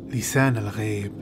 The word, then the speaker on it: Lisan al-Gaib: Closer to the real pronunciation of this word is Lisan Al-Gaib.